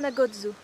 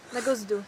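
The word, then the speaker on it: na Gozdu: It's called Kranjska Gora, and we were staying in Kocha Nagodzu. Nagozdu, sorry. You're so happy that you can pronounce it, aren't you? It's easy when there's a thing on the sea, it's ch.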